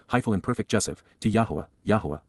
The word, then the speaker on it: Yahowah: and perfect jive to Yahwa Yahwa God's personal and proper name pronounced Yahwh based upon haya to exist with my whole heart